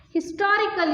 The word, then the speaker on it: historical: We can't use an because here we pronounce, here we say the sound, we produce the sound H.